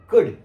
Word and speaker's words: could: लोग रंग करते हैं वो लोग बोलते कुल वल्ड शुल्ड वो एल का उच्चारण नहीं होता अभ आप देखो बोर्ड